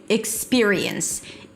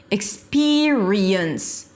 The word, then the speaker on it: experience: Experience. I e as in sit. High E. That's the primary stress. So go higher in pitch. Experience. It's not experience. There is no a sound here.